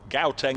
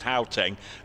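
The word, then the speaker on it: Gauteng: Guys, um, Gaoeng is pronounced Haeng.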